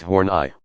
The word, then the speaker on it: Horney: psychoanalytic social theory of Karen horney pronounced horn I was built on the